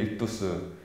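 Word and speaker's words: ἰχθύς: 그게 이제 물고기가 이 익두스라는 그 발음을 가지고 있는데, 익두스, 그게 그리스도하고 발음이 비슷해서 이렇게 물고기를 뒤에 붙이고 다녔어요.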